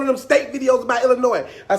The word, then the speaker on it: Illinois: Number 1, nobody from Illinois pronounces Illinois, Illinois. There is an entire letter at the end of the state's name.